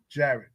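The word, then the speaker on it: Jarrett: wished that the Nets had never traded away Garrett Allen. Jared.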